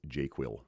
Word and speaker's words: JQL: This is the appropriate way to pronounce JQL by the way. Um and no one can challenge me on that because this is my stream. Um I pronounce JQL Jira query language as jQuil kind of is a joke but I'm trying to make that a thing.